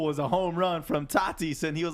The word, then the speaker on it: Tatis: Tatis.